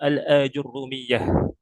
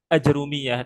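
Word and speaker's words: الآجرومية: Almuqadimah al-ajrurrumiyah. Ya, sering kita dengar ajrumiyah dengan ee mensukunkan jim ya dan mentakhfif rnya ajrumiyah.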